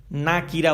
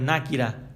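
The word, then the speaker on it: نكرة: শব্দটা হয়ে যায় অনির্দিষ্ট অনির্দিষ্টকে আরবিতে বলা হয় নাকিরা আপনার না আমাদের সাথে সাথে উচ্চারণ গুলো ঠিক করতে হবে নাকিরা বলতে হবে নাকিরা নাকেরা মারেফা এগুলো আমাদের দেশে বহুল প্রচলিত কিন্তু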